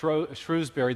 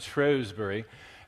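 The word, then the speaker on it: Shrewsbury: Americans would say sh Shrewsberry the British pronounced it shrewbury and it's the birthplace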